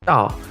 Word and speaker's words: 到: It is because the Chinese word for coming, 到, is pronounced the same as 倒, meaning upside down.